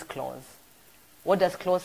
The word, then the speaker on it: Claus: sit for how Santa Claus but the right pronunciation is close what does close sound